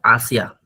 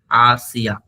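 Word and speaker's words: hacia: H silent होता है हमेशा, हमने आपको ऑलरेडी एक्सप्लेन किया है। स्पेनिश में जब भी एच स्टार्ट होता है तो ये साइलेंट होता है, तो यहाँ से हम लोग स्टार्ट करेंगे आसिया। ए को आप प्रोनाउंस करते हैं आसिया, ठीक है।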